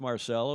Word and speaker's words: Marcelo: Marcelo Gervini, and I know it's Marcelo. He's Brazilian, and that's how that name is pronounced.